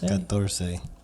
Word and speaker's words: catorce: How do you say 14? Nope. That's Try again. 20. Kinsey. I think it's Kinsey. No, that's 15. Catorce. You're going up in numbers. Catorce? Catorce. That is right.